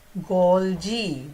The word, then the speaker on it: Golgi: Lysosomes, and we'll see whether it is called Golgi or Golgi. Okay? I just want to see. Golgi, that's the pronunciation.